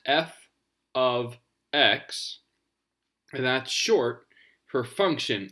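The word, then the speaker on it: f(x): list extra information so this symbol here is pronounced f of x and that's short for function of x so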